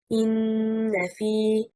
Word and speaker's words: إِنَّ فِي: The stress is on harakat al-fa of the second word, and harakat al-hamza from the first word bears the stress. And the correct stress leads to the correct meaning.